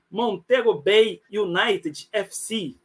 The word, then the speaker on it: Montego Bay United FC: Cláudio mei Campista jogador do Ó se a pronúncia tiver errada você me corrija montego bay Unit FC Tá certo Ô tá correto tá correto boa